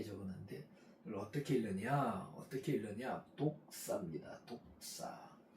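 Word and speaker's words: δόξα: 독사 발음을 잘하셔야 돼요. 독사하면 어 솔펜트 뱀이에요. 솔펜트 독사 독사 이렇게 읽습니다.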